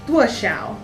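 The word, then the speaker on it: 多: So to ask how much, you say dwuh. Eric, how do you say dwuh correctly? So the dwuh is higher pitched than the shao.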